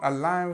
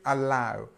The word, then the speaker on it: allow: allow allow and actually the first part of the of the word is this schw sound so we've got this uh so allow and the the strength is on the second part giving us this this